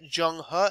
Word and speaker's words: Zheng He: Jung ha and now when you see this um z-h anytime when you're looking at the pronunciation of Chinese words that have been advertised this is gonna have a aj sound okay so we're looking at junghwa and this one here is not he but is actually gonna be pronounced oh all right so this